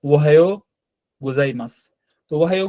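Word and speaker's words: おはようございます: এই কারণেই আমাদের দেওয়া কিন্তু উচ্চারণটা হবে জাস্ট ওহ গোজাইমাসহ গোজাইমাসটার মানে কি এটার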